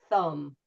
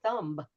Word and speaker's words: thumb: And like I was saying before, there are a lot of words that have silent letters. So we have words like thumb, and many of my clients, they just didn't know, and they'll say thumb.